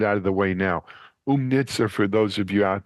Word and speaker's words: Oomnitza: to get it out of the way now umnitza for those of you out there it's spelled o o o mni t Za and